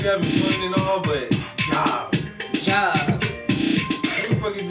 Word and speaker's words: Gob: Like, nigga, your name is Job, pronounced Job, and it's spelled Gob.